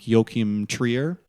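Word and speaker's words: Joachim Trier: I think you say his name like Yokim Trier.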